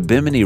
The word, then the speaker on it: Bimini: the route to atlantis the bimini road which rhymes with bikini by the way i